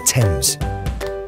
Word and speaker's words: Thames: Our great river is the Thames.